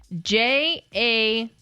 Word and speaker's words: jagoff: I'm going to spell it before I attempt to say it. Okay. JAGOFF.